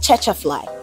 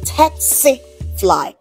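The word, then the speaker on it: tsetse: This word is not tetfly. Neither is it tetfly. is rather tets fly t fly tifly oke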